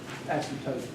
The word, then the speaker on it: asymptotes: spell it right okay it's totes like thing old umbrella coats same old asymptotes some people know like